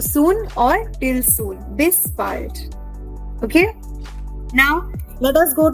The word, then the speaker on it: bald: Now, what is the meaning of bald? It is not bald. Okay? It is not the English bald. This word will be pronounced as bald.